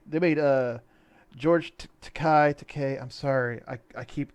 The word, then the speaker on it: Takei: back and forth whatever i thought takai was uh it was uh chinese for expensive or something like that and his it's actually pronounced decay but whatever um like